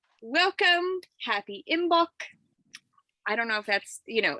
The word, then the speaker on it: Imbolc: Happy Imbolc. I don't know if that's, everybody says it a little different. Imbolc.